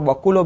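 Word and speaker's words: baculovirus: कोई बार उसको बकुलो भी बोलते हैं, कोई लोग उसको बैक्यूलो भी बोलते हैं। तो बैक्यूलो वायरस सही प्रोनाउंसिएशन है, बैक्यूलो वायरस।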